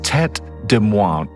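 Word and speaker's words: Tête de Moine: and for those of you making shopping lists that's spelled t-e-t-e-d-e-m-o-i-n-e so that's tet DeMont all right oh and there's another cheese map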